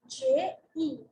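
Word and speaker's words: je: If I'm talking about myself, I will say J-E, J-E in spelling. How do I pronounce it? I pronounce it as J.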